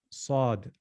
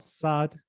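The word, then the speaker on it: صاد: just need some practice sod sod sod sod so not sad sad sad sad you must concentrate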